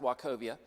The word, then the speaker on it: Wachovia: Some people called it walk all over you, but it was actually pronounced Wachovia.